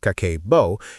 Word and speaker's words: Kakeibo: And Kakeibo, pronounced Kakeibo, is a significant part of the reason why.